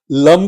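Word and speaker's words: लं: लम का उच्चारण ल म लम का उच्चारण करना है। जीभ को तालु से लगा लेना है।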